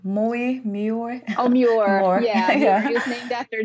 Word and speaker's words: Muir: I'm not sure if I can pronounce his name. Muir? Oh, Muir.